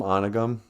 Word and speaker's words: Onigum: Well, I'm from Onigum. Ons, as the kids call it. But in Ojibwe, we pronounce that O long, like Ojibwe.